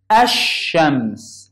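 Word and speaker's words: الشمس: So this is the sun letters. I don't pronounce lam with it. Like here, shams, ash-shams. I didn't pronounce that lam. I pronounced this and sheen. Ash-shams.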